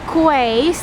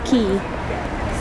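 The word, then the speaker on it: quay: new here in the UK I used to pronounce the key qu but it should be pronounced key see you still the tower is there you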